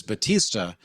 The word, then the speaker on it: Bautista: that you said that your name is Bautista, not like the Cuban dictator from, I don't know, 75 years ago, as opposed to Bautista, the current actor who was in Guardians of the Galaxy and stuff. It's like it's a generational pronunciation of Bautista.